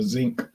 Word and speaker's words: sink: by the sink or some old Louisiana people call it the zinc anybody in your area in your region of the country pronounces it like that the zinc I never heard that